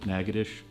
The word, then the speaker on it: Natchitoches: I mean, Natchitoches, I pronounced that correct, but Natchitoches, and the Creole farms and plantations.